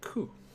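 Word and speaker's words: く: You pronounce this one as ku.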